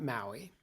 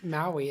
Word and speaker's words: Maui: going to talk about maui and uh it's probably pronounced with uh three syllables maui he was a demigod and